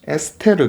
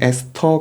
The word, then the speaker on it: 에스테르: 이런 결합을 뭐라 하냐면은 에스테르 결합 이렇게 불러요. 혹은 에스터 결합 이렇게 부릅니다. 같은 말이에요. 발음의 문제입니다.